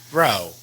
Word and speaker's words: vrouw: We also want to practice our R's with a bit of a roll on them if you can. So, Vrou, Vrou. You don't want to roll your R's so much that it becomes a R, so that it sounds like there's several R's in there.